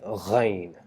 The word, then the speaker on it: غ: produce the sound G by saying ghain, ghain, ghain.